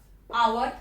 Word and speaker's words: hour: Our, H is silent, O vowel, N.